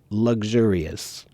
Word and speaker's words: luxurious: luxury luxury okay or luxurious but nearly everyone I know when I hear that word it's really more of a g sound than it is a k s sound luxurious luxury okay wafa wants